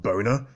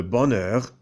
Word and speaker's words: bonheur: Le bonheur? No, not boner. Oh, silly me, pardon. Le bonheur Le bonheur est le résultat de l'action juste.